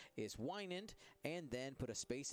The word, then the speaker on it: Wynand: Because how'd you pronounce his name? Wynand. Wynand.